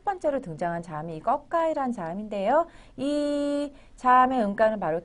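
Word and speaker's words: ก: 첫 번째로 등장한 자음이이 거까이 자인데이 자의 음가는 바로 K 우리나라 발음으로 뭐 생각을 해 보면 쌍기역 정도로 보시면 돼요이 음가는 초자의 음가 보시면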